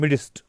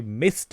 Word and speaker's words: midst: बहुत सारे टीचर्स गलती करते हैं, वो इसको पढ़ते हैं midst, जबकि ये mist है. इसकी प्रोनाउंसिएशन वो mist है.